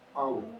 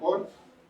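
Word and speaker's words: אור: La unidad en el hombre en el principio se pronuncia Aur o Or y es la luz.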